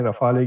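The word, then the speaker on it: Rafale: रफाल नाम होता है। रफाले क्या होता है? ऐसा लग रहा है पांचवी क्लास में पढ़ गया है। आखिरी में लगा हुआ ई को भी प्रोनाउंस कर रहा है।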